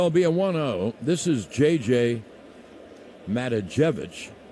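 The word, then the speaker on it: Matijevic: trevino's head so albion 1-0 this is jj matajevic mata jevich is how he pronounces it he's a left-hand hitter he hasn't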